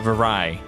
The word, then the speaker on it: Vyraj: Vyraj. Okay. So I'm going to try to load Vyraj or Vyra Vyrai as people from that region will actually tell you it's pronounced, so I I apologize.